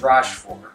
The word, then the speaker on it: Rochefort: And according to the internet and the audio translation, it's Rochefort, so that's what I'm going with.